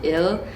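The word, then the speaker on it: 일: are very similar like in Japanese it's pronounced one is pronounced Ichi and then in Korean it's pronounced ill and then in Chinese it's pronounced E depending on who you speak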